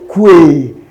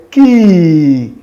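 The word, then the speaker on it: key: And that is a ki. Ki, not kwe. It's ki. Ki. How will you say it after me? Ki. Ki. So this one is a long E sound.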